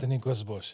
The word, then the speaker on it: Outeniquasbosch: Otiquas Bosch. Yeah, cuz I think a lot of people's pronunciation of that.